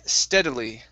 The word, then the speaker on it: steadily: Next is the word steadily. Okay, short E sound, stead.